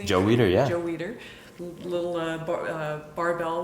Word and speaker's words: Weider: Joe Weider, yeah.